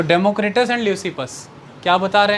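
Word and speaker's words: Leucippus: Democritus, और हुए हैं ल्यूसिपस। अब कहीं कहीं पर इनकी प्रोनाउंसिएशन ऐसे भी आ जाती है, लेफ्किपस, लेकिन मेजॉरली मिलेगी इट्स ल्यूसिपस।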